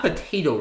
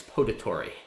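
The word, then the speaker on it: potatory: ooh Joey gets down it's not potato it's patory definitely heard that word pronounced as potato as in a place that grows potatoes but that is not correct is an adjective patory which means I believe pertaining to drinking so uh and maybe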